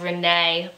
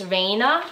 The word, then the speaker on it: Reina: I want to say I said Renee but it's Reina shawl and it's a